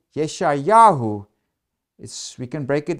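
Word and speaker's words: יְשַׁעְיָהוּ: So now we before the exile the ministry of prophet Isaiah himself in that time period and Isaiah the name Isaiah in Hebrew it's pronounced as Yeshayahu and it's a theophoric name.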